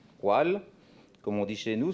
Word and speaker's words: Wahl: jean paul wahl cela s'écrit pareillement w à h tél mais cela ne se prononce pas exactement de la même manière en allemand walt comme on dit chez